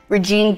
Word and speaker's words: Regine: it like this but my first name regene someone pronounced it Regina wow and of course